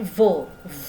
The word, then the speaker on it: vos: Perhatikan untuk v, of. Jadi lidah ya. Di antara bibir of gitu ya. Giginya mengenai bibir yang bawah of ya. Votre ya, seperti itu. Giginya ke bibir yang bawah menekan. Nah, jadi ada semacam getaran halus atau udara yang keluar dari mulut tapi ditahan. Jadi vo ya.